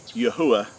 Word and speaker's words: Yahuwah: the Creator, which is Yahuwah, which is the correct way to pronounce the four Hebrew letters of our Creator's name, and it's been substituted with the word Lord in our English translations.